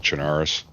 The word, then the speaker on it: Chernarus: it i call it charnaroos i only do that um i only do that because that's what i truly believe it's it should be pronounced like um just like belarus you don't pronounce it